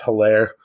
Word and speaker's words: Edwards-Helaire: I think that they do enough to run the ball with Hilaire. I believe that's how you pronounce his name.